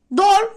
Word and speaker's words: door: Arkadaşlar bunlarda iki o gelirse bunları u olarak okumuyoruz. Bunlar özeller. Bunları olduğu gibi okuyoruz. Door, floor. Şu ikisini ezberleseniz bile bu kelimeleri gördüğünüzde ha bu door floor değil. O zaman bu 2 o'yu u yapalım dersiniz. O yüzden bu iki kelimeye dikkat edin. Door, floor. Bunlar olduğu gibi okunur.